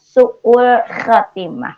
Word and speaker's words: su'ul khatimah: Kita akan bahas sekarang tema kita tentang sebab-sebab su'ul khatimah. Pengucapan sebab-sebab su'ul pakai ain, su'ul khatimah pakai kho.